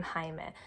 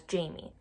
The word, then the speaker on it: Jaime: not want to say they saw it written as j ai II and for them in English that means you have to say as Jamie I think about other